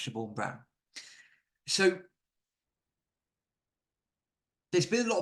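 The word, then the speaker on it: Siobhian Brown: and Community safety Minister shabor I believe that's pronounced Shor Brown so there's been a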